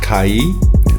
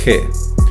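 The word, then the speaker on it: καί: For instance, the word kai, meaning and, was originally pronounced as kai. However, after the 2nd century AD, it is pronounced as he, where the short e sound is no longer an alarm sound.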